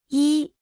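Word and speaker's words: 一: uno escuche y repita en voz alta y I I I I I I se pronuncia con el primer tono dos escuche y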